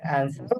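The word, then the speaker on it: answer: প্রশ্ন করা, তারপর হচ্ছে অ্যান্সার উত্তর দেওয়া, হেল্প, অ্যান্সার না আনসার? ক্যান্সার দুইটা উচ্চারণ করতে অ্যান্সার। পারেন, ক্যান্সার হ্যাঁ, দুইটা উচ্চারণ করা যায়, প্রনাউন্সিং দুই ভাবেই বলা যায়, এটা অ্যান্সারও বলতে পারেন আবার আনসারও বলতে পারেন।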